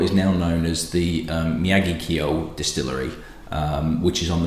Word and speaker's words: Miyagikyo: I'm going to go with Miyagikyo as pronunciation. A few people, fortunately, really nice people, have come back and said that is what it should be. It just doesn't sound right